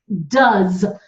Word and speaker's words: does: Has, H-A-Z, does. We don't pronounce the O, it's the So does is D-U-Z, okay?